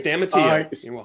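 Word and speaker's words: Stamatiou: Paul, which I will not even attempt to pronounce his last name. Stamatio. Thank you. Stamatio.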